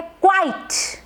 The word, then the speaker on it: quite: इस वर्ड को प्रोनाउंस किया जाता है क्वाइट, क्वाइट।